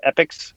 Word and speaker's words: EPICX: team on a platform called epics pronoun it's spelled e-p-i-c-x uh what it is